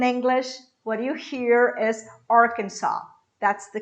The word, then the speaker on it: Arkansas: cannot explain in english what you hear is arkansas that's the correct pronunciation for this word talking about arkansas i